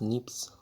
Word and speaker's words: SNP: See, polymorphism is a variation at genetic level, pronounced as NIPS.